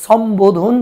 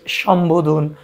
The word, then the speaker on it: সম্বোধন: তাহলে এই যে সম্বোধন বলি না বলি সম্বোধন। তাই দন্তস এর উচ্চারণ এখানেও তালব্যস হয়েছে।